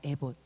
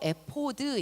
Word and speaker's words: 에봇: 하나는 첫번째로 앱 오십니다 에봇 히브리어로 에 포드 입니다 히브리어 발음을 그대로 한국어로 이제 직역을 해놓은 겁니다 에봇 내 보 스